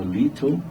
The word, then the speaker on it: little: que o britânico fala Little né que é pequeno pouco e eles falam mais com som de R né então seria isso